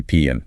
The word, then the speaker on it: PIN: Just say PN. It rhymes with win. PN.